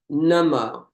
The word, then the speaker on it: Namo: The first part of Namo is short and it rhymes with Nama, Namo. It rhymes with hum, num, hum. And the O sound is much longer.